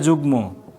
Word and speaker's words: যুগ্ম: আবার বলছি, ম কোথায় কোথায় উচ্চারিত হবে? ইও বাদে নাসিক্যের সবগুলো, এর সাথে গ ট ল, এগুলোর সাথে যদি ম থাকে তাহলে মটা সবসময় উচ্চারিত হবে।